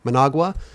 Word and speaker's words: Managua: You had mentioned before when your mom, she went to the hospital in Managua. Is that how you say it? Yeah, sorry. Managua.